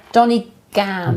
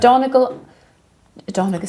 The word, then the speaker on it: Donegan: It's Donny Donny? Gan. Donny Gan. They are on Amazon, but you don't. Yeah. Donegan's Saletastic, eBay. Optivisor. Donegan.